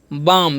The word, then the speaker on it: balm: Okay, BALM है तो क्या हम पढ़ेंगे इसे हम बाम, यहाँ पर भी एल जो है साइलेंट है।